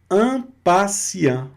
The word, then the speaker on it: impatient: Impatient, impaciente. Aqui eu não estou conjugando aqui, não estou pronunciando, perdão, a última consoante, né? Impatient.